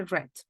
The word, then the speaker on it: read: and I read them although it's the same spelling as read because the events took place in past the pronunciation would be red that would be it